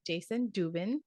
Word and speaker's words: Jayson Dubin: your host Ellen Parker and today we have Jason Dubin did I pronounce it right you did correct perfect perfect